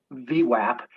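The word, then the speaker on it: VWAP: yeah the anchorage volume weighted average price pronounced v-wap is simply a representation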